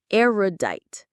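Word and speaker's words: erudite: Aerodite. Say it with me. The stress is on that first syllable.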